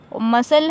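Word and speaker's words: muscle: इसकी आवाज नहीं आनी मसल है यहां की आवाज नहीं आनी ऐसी साइलेंट है कि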